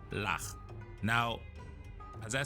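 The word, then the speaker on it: הלך: So the shawa is at the end of the word, which means it is silent. So your chaf goes ch. So the silent shawa is not going to make any sound. So this is just going to be, so lach, lach, ha, lach.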